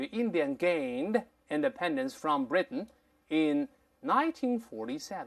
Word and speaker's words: Britain: 叫 from Britain，老师刚才读成了 Britain，咱们先说 Britain 是鼻腔爆破的，1947 年从英国手中独立出来。